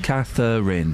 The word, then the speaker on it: Catherine: my name is though it's too many syllables that's what my name is Catherine three syllables I'm I'm not going